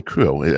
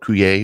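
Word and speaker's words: Curieux: And that's, I learned how to say it properly, Cruo. I always call it Cruyer or Cruchix, but it's a Cruo, which is a bourbon barrel wit beer.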